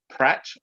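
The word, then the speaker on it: Praet: That's how it's pronounced, is Pratt.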